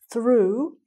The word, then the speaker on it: through: So the first one, the boy threw the ball through the window. Okay, so he must have broken the window doing that. The boy threw the ball through the window. Same pronunciation, different spelling.